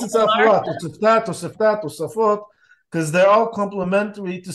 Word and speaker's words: Tosafot: That's Oh, it's Tosafot. different? Oh, okay, And well, most people pronounce it also Tosfot or Toisfot, depends if you're Ashkenazi or Sephardi.